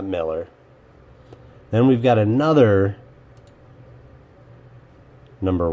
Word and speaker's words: Millar: that his name is he pronounces it Miller well if it was pronounced Miller mr.